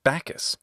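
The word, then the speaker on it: Bacchus: also known as bakos or bakus in Latin bakus according to myth he could intoxicate his followers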